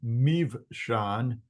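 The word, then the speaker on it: Mibsam: If a B occurs in the middle of a word, oftentimes it's going to be pronounced as a V. Then you've got, we'll call him Mivshan.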